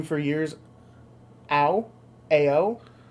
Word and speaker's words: Ao: so as far as the traditional pronunciation of how that's spelled, it's Ao. It is Ao. Okay. Yeah, so it's Owl the Dawn Sky.